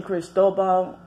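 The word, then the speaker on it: Cristóbal: martial law they have a possible hurricane hurricane Cristobal it's how you pronouncing Spanish is Spanish for Christopher so hurricane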